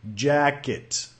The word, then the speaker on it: jacket: Notamos que el estrés cae en la primera sílaba.